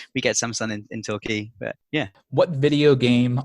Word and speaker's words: Torquay: Did I pronounce it right? Torquay? You did not. Sorry. Torquay. So yeah, Torquay's a coastal town, so there's a beach there, but the beach isn't amazing.